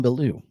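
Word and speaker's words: Bilyeu: Bellew, it's French.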